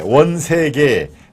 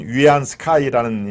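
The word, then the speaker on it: 袁世凱: 제가 어제는 청나라 말기의 원세계 중국 발음으로 하면 위안 스카이라는 얘기죠 원색의 중국 청나라의 말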